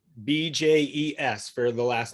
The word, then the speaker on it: Bjes: Bjes for the last name, yeah? Correct. Yes. How do you say it? Bjes.